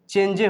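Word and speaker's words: change: चेंज, चेंजे हो जाएगा, ऐसे पढ़ेंगे तो चेंज इसको बोलना है।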